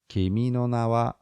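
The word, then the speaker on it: 君の名は: what no what yes so it kind of goes up yeah no kimi no na wa kimi no na wa kimi no na wa kimi no na wa kimi no na wa how's that yes that's better and then how do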